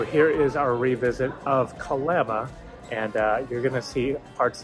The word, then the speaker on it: Kalama: of this video where I keep saying Kalama. No, Kalama. Was told that by a local. We are definitely not local from Kalama. But definitely you want to make sure you say it right, Kalama.